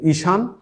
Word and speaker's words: ঈশান: তারপরে উদাহরণ আসছে ঈশান, দীর্ঘই তালবস্যকে সা দন্তন্য, এই ঈশান শব্দটা যখন আমরা উচ্চারণে রূপ দিচ্ছি তখন এই দীর্ঘইটা হয়ে যাচ্ছে রস্যইকার, রস্যই, তাহলে ঈশান।